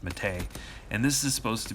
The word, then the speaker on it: Mate: It's called Brisk Mate, spelled M-A-T-E, so it looks like Brisk Mate, like maybe it came from Australia, but apparently it's pronounced Mahtay.